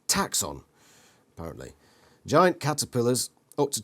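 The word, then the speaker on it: Taxxon: name for his ship taxon pronounced taxon apparently giant caterpillars up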